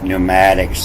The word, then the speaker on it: pneumatics: They start with a P, pneumatics, the winds, and the P is silent.